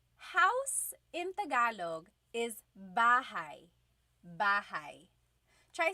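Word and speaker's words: bahay: Bahai. Try saying that with me. Bahai. Bahai. You might notice that the spelling is a y at the end.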